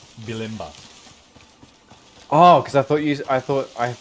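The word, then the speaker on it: Bulimba: name to it sorry how's that how's that pronounced bilimba oh because i thought you i thought i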